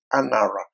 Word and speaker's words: Angara: there that is called Angara, tribe of Benjamin. It's pronounced Anara, but it's called Angara village.